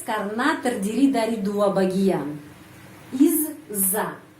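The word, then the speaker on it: из-за: terdiri dari dua bagian Iz Za Izza bacanya Izza huruf Za panjang Izza Izza Izza artinya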